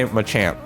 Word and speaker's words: Machamp: i'm a champ i i have to get used to saying that because i've heard a lot of you guys say it's um you know that's the right way to say it so he does